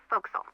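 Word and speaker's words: forecastle: ship but it's pronounced fil why is that try pronouncing it like an English sailor with no formal education fa Castle folkl over time it whittel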